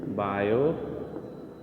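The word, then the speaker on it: Biot: बायो Savart's law. T silent है बच्चों, बायो पढ़ते बायो नहीं पढ़ते हैं, ठीक है।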